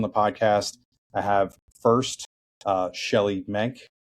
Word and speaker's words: Shelley Menk: And today with us on the podcast, I have first Shelly Menke. Correct pronunciation there, Shelly?